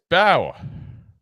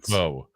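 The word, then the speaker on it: Mbow: Marcus Bow, or Bo, I keep want to say pronounce the old way that the Purdue people were saying we were scouting him. They gave us wrong information. Marcus Bow.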